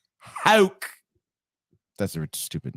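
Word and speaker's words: Houck: It's Hauk. That's a stupid name, dude. Can't believe you don't know Tanner Hauk.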